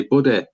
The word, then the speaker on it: Buday: But Martin Buday, bro, he's not an easy win. That was Buday. Buday, Buddy. Buday. Buddy. See, I say it like me and Bisbing say, Buddy. Buddy. It's Martin Buddy.